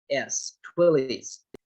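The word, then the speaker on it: Twilley's: them to send you their hard copy twilly's is spelled t-w-i-l-l-e-y-s twillies there's the two other companies that we used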